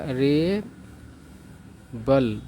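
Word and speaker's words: rebel: है रे बल है इसका उच्चारण कैसे होगा रे बल ब है इसमें ठीक है ना बी है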